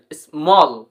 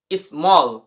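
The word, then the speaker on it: small: Double L কল, এস এম এ এল এল স্মল, স্মল। সো তোমরা বুঝতে পেরেছো রুলসটি কিরকম ভাবে উচ্চারণ হচ্ছে, কতটা ইম্পর্টেন্ট বা জরুরি।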